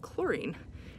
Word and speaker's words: chlorine: it's kind of like chlorine right that's spelled with a ch but we say with a k sound science is weird oh